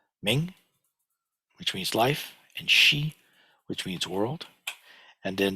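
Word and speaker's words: 世: In Chinese, it's pronounced Shi. In Japanese, it's Ze. In Korean, it's pronounced Se.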